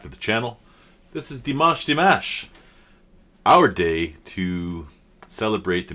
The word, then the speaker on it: Dimash: Maybe Dimash will see this video and he'll be like, or Dimash, sorry, somebody had pointed that out to me. If I say D and then Mosh, I'll be closer to how to say it.